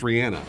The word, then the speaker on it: Rihanna: and it's pronounced Rihanna?